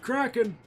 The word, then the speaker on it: Kraken: it is time to challenge the Kraken it's pronounced Kraken now there's a song I don't any of